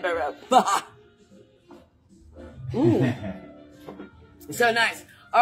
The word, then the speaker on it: Baroque: But there are those who say that every time that I say a certain word, which rhymes with joke, but it's Baroque, that you may want to have a sipsy of your favorite beverage, whatever that may be.